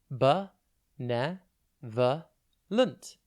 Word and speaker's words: benevolent: It's pronounced be-ne-ver-lunt, and it's spelt B-E-N-E-V-O-L-E-N-T. Think ben, then evo, and then lent.